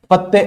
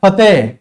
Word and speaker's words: फतेह: नृत्य करते हैं और फते फते पढ़ते क्या है अपन पता है पत्ते ऐसे पढ़ते है पत्ते पत्ते के उच्चारण के साथ जबकि होता क्या है वैसे शब्द क्या है फतेह फतेह फतेह यानी विजय फतेह फतेह करते अंग